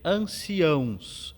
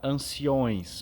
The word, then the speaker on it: anciãos: Possuía, falando então de um verbo irregular com acento no i, e também anciãos. É muito comum nós vermos alguém pronunciar anciões, mas anciões não existe, então cuidemos com essa palavra, anciãos.